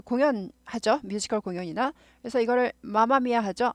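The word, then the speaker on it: Mamma Mia: 뮤지컬 공연이나 그래서 이거를 마마미아 하죠 맘마미아 하지 않아요 맘마미 하지 않는데 6교나 어디 지나갈 때 보면 항상 한국말로 맘마미 마마미아 맘마미아로 나오죠 한국말로는 맘마미아 하는데 m이 두 개 있을 때 m 하나만 발음해요 그래서 맘마미아 아니고 마마미아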